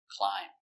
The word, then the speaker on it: climb: Remember, silent b, climb.